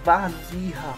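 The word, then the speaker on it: Warzycha: nome aí bem complicado, a pronúncia seria mais ou menos assim, ó, Wazira.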